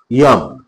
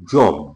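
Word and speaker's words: यम: প্রথমটি হচ্ছে ইয়ম, বা আমরা বাংলায় উচ্চারণ করি যম।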